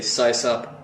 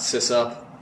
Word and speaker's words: sysop: well by the way I say size up not sis up so yeah system operator sis op if anybody's linguist out